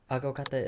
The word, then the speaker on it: aguacate: aguacate is avocado. Avocado. Yeah. But when I'll give you like a tip, like aguacate. That's how you say it in Spanish.